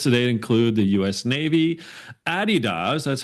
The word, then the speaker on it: Adidas: Navy, Adidas, that's how you say it properly, DocuSign, TD Bank, and Manulife.